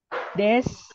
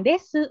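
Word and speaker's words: です: Dan biasanya di huruf terakhir dia akan menjadi U. Makanya Hansam. Hansam. Des. Bukan desu, tapi des. Apalagi ya yang belakangnya U.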